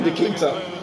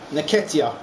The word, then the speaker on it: Nketiah: Nketiah. I just called Nikita. This hasn't really been a contest, but all credit to any side committed to scoring goals like this. Nketiah. Now pronounce the name right now.